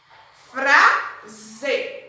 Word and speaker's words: frase: Frase. Eu tenho o som de Z, mas é escrito com S.